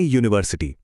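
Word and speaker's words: university: जैसे यूनिवर्सिटी, शुरू तो यू से होता है जो एक वाउल है, पर उसकी आवाज य जैसी है जो एक कॉन्सोनेंट साउंड है, इसलिए हम कहते हैं ए यूनिवर्सिटी।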